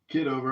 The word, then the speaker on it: Kitover: The other John, is it Kitover? Or how do you pronounce it? Kitover.